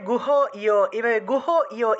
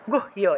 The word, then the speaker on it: গুহ্য: আপনারা অনেকেই যে গুহ ইয় এভাবে উচ্চারণ করলে হবে না, সর্ব গুহ ইয় এভাবে